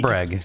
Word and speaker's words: Bregg: I always want to say Bragg. Breeg? It's Bregg. Bregg, okay.